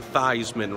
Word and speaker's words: Theismann: sure be different than Theismann rhyming with Heisman so that's the lesson